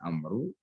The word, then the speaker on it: Amr: Nah, di dalam bahasa Arab itu nama Amr dan Umar itu hanya selisih wawu di belakang ro saja. Jadi kalau di belakang ro itu ada wawunya, itu bacanya Amru, ya. Nah, nanti kalau dia ditanwin ya ada tanwinnya Amrun begitu. Ya, bisa Amron, bisa Amrin gitu. Tapi kalau di belakangnya itu enggak ada wawu, maka bacanya Umaru, ya.